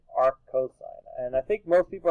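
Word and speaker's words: arccos: You actually say the real word, not how the abbreviation is spelled. Right? So don't say Mur, cos, right? And when you see this, actually say arc sine. When you see this, you say arc cosine, right?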